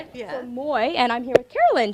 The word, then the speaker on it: Moy: So Moy, and I'm here with Carolyn.